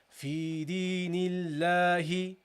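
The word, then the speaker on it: فِي دِينِ اللَّهِ: Because there is a kasra. It is preceded by the kasra. This kasra affects the pronunciation of this lam. Whereas this dhamma here affects the pronunciation of this lam with Nasrullahi. The dhamma makes the lam heavy, whilst the kasra makes the lam light.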